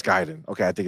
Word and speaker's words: Gaiden: Shadow drop today so gyen JR says no Guiden is wrong okay so write it out for